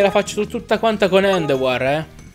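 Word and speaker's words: Endeavor: O meglio, Endova! Perché i giapponesi non sanno pronunciare parole in inglese, quindi Endova! Dai, diciamolo bene, Endowar. L'accento è un po' sbagliato anche il mio, ma in sostanza è quello. Endowa. Perché è francese.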